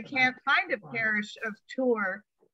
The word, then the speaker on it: Tour: there is a townsland called Tour in the Doyle civil parish in the barony of Kerry. Yeah, so the townsland is spelled T-O-O-R, or on Tour, and it's in Kerry,